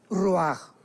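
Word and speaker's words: רוח: parte espiritual que es la palabra ruajach, que se pronuncia roaj.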